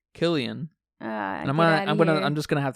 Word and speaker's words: Cillian: How do you say his name? Cillian Murphy. Yeah, they're British. Cillian and Christopher Nolan. So they say Killian.